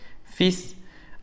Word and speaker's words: fils: Pour empezar, un homme, un enfant, un garçon, une femme, une fille, un fils, cuidado no se pronuncia la L, fils, un frère, une sœur, une mère, un père.